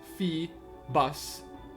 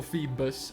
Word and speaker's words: Feebas: about the name pronunciations Feebas and bedal are pronounced febs or feus I guess that's pretty much the same and B dull huh